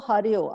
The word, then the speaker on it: Harjo: also is it musician is it harjo or hario i heard somebody pronouncing it hario i don't know she pronounces it har jo as far as father